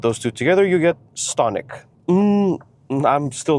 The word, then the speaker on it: Stonic: I did some research on the pronunciation, and you're supposed to pronounce it like Stonic.